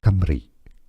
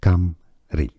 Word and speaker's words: Cymru: Bon, alors je vais te laisser ce monsieur-là le prononcer. Cymru, Cymru.